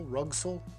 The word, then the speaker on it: Rugcel: top how do you say it room so rug soul rug soul and also the aluminum fairlead all